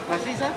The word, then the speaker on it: Maciza: Una makiza? Sí, una makiza. Is this, how do you say? Makiza? ¿Maciza?